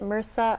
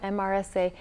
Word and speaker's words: MRSA: Yeah, we pronounce it MRSA, MRSA, Methicillin-Resistant Staph.